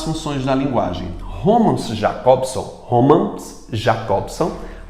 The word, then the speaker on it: Roman Jakobson: da linguagem romances jakobson Roman jakobson que é essa pronúncia dele é teorizou sobre o